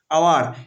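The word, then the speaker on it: hour: এখানে এইজের উচ্চারণ কার মতো হয়, আওয়ার। এখানে এইজের উচ্চারণ কার মতো হয়, এইজের উচ্চারণ আ, অর্থাৎ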